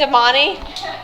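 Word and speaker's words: Domane: Oh, that's how you say it, Damani? I said domain to him.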